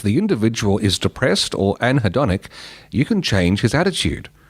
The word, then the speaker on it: anhedonic: Anhedonic. Anhedonic, there we go, is the inability to feel pleasure in normal pleasurable activities.